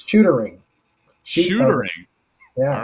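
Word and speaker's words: Shootaring: Just so I don't butcher the name, can you tell me how to pronounce the name of the mill? It's Shootering.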